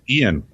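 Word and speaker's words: Eoin: I'm going to try this, Dave, because I don't even know what E-O-I-N spells or is pronounced, but... Ian. Is it Ian?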